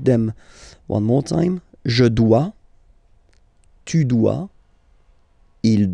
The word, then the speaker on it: dois: Je dois. Okay, remember, final S is not pronounced. Je dois. O-E, when you combine the two, you get the sound wa wa wa.